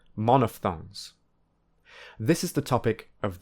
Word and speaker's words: monophthong: remember how to pronounce monophthong and diphthong. Importantly, there is no p sound. Instead, the ph is a f sound, like in phone. So, the correct pronunciation is monophthong and diphthong, not monophthong and diphthong.